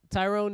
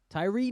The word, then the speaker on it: Tyre: Tyrone Nichols. Do you think? How do you say his name? Ty? Why are you saying Tyrone? Tyree Nichols? That's some sad shit, homie.